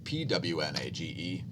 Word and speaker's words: pwnage: Spelled with P's. Pure Ownage, Pwnage.